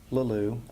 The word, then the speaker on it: Leleux: So, my name is Leleux. Leleux is spelled L-E-L-E-U-X.